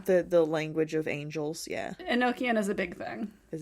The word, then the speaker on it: Enochian: Enochian is a big thing. Is it Enochian? Yeah. That's how they pronounce it.